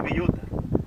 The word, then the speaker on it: bellota: jamón de bellota. Bon, jamón de bellota.